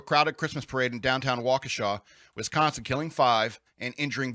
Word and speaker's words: Waukesha: what this is uh waukesha uh what's up matt walsh calls it wakasha i think he knows he's pronouncing it wrong waukesha locals describe the